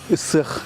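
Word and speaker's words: Ысыах: Исых. Исых. По-якутски гых. Ну, так по-русски Исых Исых.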